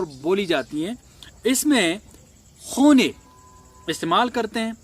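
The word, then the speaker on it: خانه: میں ایسا نہیں ہوتا، اس میں بالکل نوشتار جو رائٹنگ ہے وہ خانے ہوگا لیکن اس کا تلفظ خونے کیا جاتا ہے.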